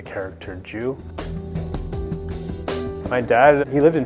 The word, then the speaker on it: Jiu: about loss and translation the name of the restaurant is Mr Jew spelled jiu which is a pin spelling of the character Jew my dad he lived